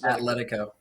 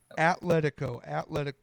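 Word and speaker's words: Atlético: Atletico. Atletico.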